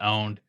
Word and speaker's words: pwned: for me to pronounce poemed hooned opponent own p-w-n-e-d hooned i like your version better yeah oh you got pwned you got what yeah owned it's just owned it's uh you know you you just really